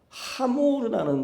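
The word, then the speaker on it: חמור: 하고 있는데 나귀와 더미가 하모르라는 단어라 그래요. 하모르 발음이 그래서 제가 읽어 드리면 하모르 하모르 하모르타임 같이 한번 해 볼게요. 하하 아모르가 아니라 김현자의 아모르 그게 아닙니다.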